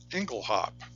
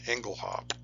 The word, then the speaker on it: Engelhaupt: pronunciation would have been Engle hop which is French linguistic fashion the t is silent in French for example the word